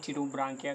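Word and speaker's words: Pterobranchia: यहाँ पर एप्सन है तो हम प्रोनाउंस करेंगे टीरोब्रांकिया।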